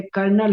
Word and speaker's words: colonel: Army में जो कोलोनल है, कर्नल हम लोग उच्चारण करते हैं, उसको भी नेल पॉलिश और लिपस्टिक के साथ।